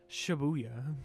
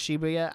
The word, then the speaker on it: Shibuya: I don't know uh shabuya shabuya I think it's technically pronounced Shibuya I don't know yeah